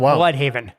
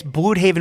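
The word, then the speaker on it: Blüdhaven: It's pronounced Blood Haven. It's been It's Blude Haven would be a German pronunciation of Blood Haven.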